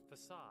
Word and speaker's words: facade: Facade. Facade. That's how you say it.